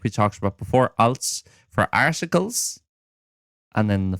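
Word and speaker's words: ailt: the general thing there a i l t so again your soft t at the end like we talked about before als for articles and then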